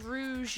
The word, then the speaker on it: Rouge: thanks for the follow, Rouge Moon. Or is that supposed to say rogue? Wait, no. In French, just it's rouge, hold on. so that's why I say it like that.